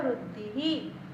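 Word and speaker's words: वृद्धिः: Again here Vruddhi ends with E. So Visarg is pronounced as he. Manukula Vruddhihi.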